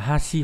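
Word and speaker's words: 橋: Thì âm cương đọc là Hashi hoặc là Bashi, ví dụ trong từ Hashi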